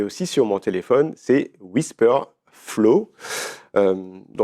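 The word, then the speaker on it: Wispr Flow: mon ordinateur et aussi sur mon téléphone, c'est Whisper Flow. Euh donc ça s'écrit w i s p r f l o w.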